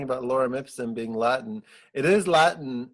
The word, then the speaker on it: Lorem Ipsum: If I pronounce this wrong, forgive me. Lorem Ipsum.